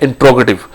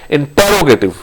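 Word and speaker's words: interrogative: अच्छा, अक्सर लोग इसको, हमारे उस्ताद भी अक्सर इसको कहते हैं इंटेरोगेटिव। तो please mind it, the word is इंट्रोगेटिव, नॉट इंटेरोगेटिव। इंटेरोगेटिव लफ्ज नहीं होता, इसका प्रोनाउंसिएशन है इंट्रोगेटिव, इंट्रोगेटिव, इंट्रोगेटिव। सो the correct pronunciation is इंट्रोगेटिव।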